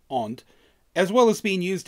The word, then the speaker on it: and: it could replace both the word and pronounced Aunt as well as being